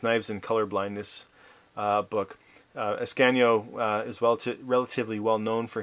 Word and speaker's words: Ascanio: I used to say for the longest time Asciano, but it's actually Ascanio.